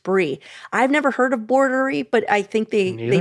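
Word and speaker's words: Boardery: Um it's spelled like board, you know, like a shakureri board and then e r i e.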